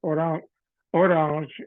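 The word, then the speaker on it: Orange: de orang que es una ciudad en Francia orang si se pronuncia quisiera que quiere decir cas una naranja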